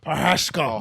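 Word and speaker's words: Procházka: Procheshka.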